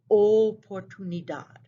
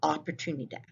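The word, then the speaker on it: oportunidad: english speakers make mistakes the letter o in spanish is always a long o it always says o nothing else so here we have two words they both mean opportunity so notice in english i say opportunity the word in spanish is o portunidad okay it's not opportunity it's o portunidad this is a very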